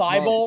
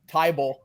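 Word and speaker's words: Thibodeau: Thibault, Monk. he loves to call Thibault. What did he call Thibault? Tybault. Tybalt.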